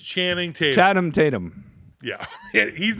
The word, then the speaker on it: Channing Tatum: easier to say than CH chadum Tatam that one's a for you yeah Tatum it's Channing Tatum chatam Tatum yeah he's